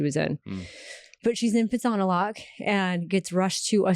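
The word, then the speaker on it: Phitsanulok: And I get a call in the middle of the night that Marley is rushed to the emergency in Pitsanalak, which is how you say it.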